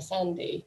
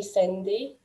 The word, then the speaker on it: Sandy: never heard the name sandy before they tend to call me cindy with an f sound and not an a sound um and this difficulty